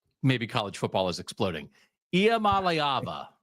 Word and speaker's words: Iamaleava: State in the playoff and now we're double-checking pronunciations because maybe college football is exploding. Iamaleava, right?